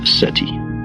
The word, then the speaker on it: SETI: search for extraterrestrial intelligence SETI pronounced SETI let me describe how